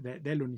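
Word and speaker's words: Delaunay: francés que se llama de la uney de la mi creo que de leoni se pronuncia estas variables que hoy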